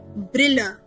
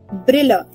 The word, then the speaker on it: Brille: If I am teaching you that specs in German are called Brille. Brille. B-R-I-L-L-E.